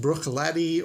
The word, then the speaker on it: Bruichladdich: Bruichladdich. That's not how you say that, actually. I believe it's properly pronounced Bruichladdich or Bruichladdich. And this stuff that's in here is the Classic Laddie.